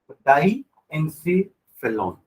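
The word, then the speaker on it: diencephalon: डाइएन्सेफेलॉन, Elon नहीं, ठीक है?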